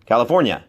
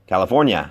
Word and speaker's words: California: I'm in California หรือ ถ้า อ่า นี้ ออก เสียง นะ California California California ลอง ดู นะ ครับ California California ชัด เลย ครับ ไม่ ต้อง พูด ว่า เนีย นะ เป็น แค่ เยะ California California ถาม นะ